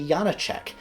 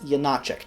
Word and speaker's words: Janáček: it is not actually Yana check it's you not check typically stress in check falls on the first syllable but in this case it doesn't know if you are